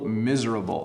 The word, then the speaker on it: miserable: day and you feel miserable this is really hard to pronounce by the way miserable miserable it's almost I see it a bit with the Zed sound miserable when you're miserable you're